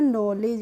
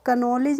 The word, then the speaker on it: knowledge: ऐसे ही होता है हमारा KNOWLEDGE, तो इसको हम पढ़ते हैं नॉलेज, इसको कनॉलेज नहीं पढ़ते हैं।